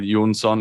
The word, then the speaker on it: Jonsson: you got it right Yoon sun is the Swedish pronunciation of my last name or if they go